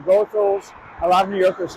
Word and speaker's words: Goethals: to task for saying goals. A lot of New Yorkers say Gothals. Um the main sources of more trustworthy sources uh that I've seen say goals is a correct pronunciation.